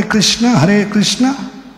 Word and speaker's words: कृष्ण: अगर कृष्ण होता तो क के नीचे वो दंडी होनी चाहिए। अभी क के नीचे क्या है? उल्टा उकार है, तो क्या उच्चारण होता है? कृष्ण होता है, कृष्ण होता है।